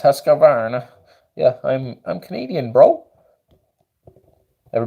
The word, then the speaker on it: Husqvarna: American Mattias says Husqvarna so funny when Americans try to pronounce the Scandinavian Swedish brand it's Husqvarna yeah I'm Canadian broke